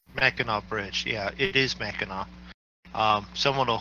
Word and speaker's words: Mackinac: Mackinac Bridge, yeah, it is Mackinac.